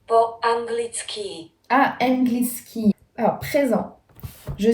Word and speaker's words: po anglicky: Alors que nous, par exemple en français, c'est toujours sur la dernière syllabe du mot. Donc ça change. Akim jazykom hovorim po angliki. Po anglicky.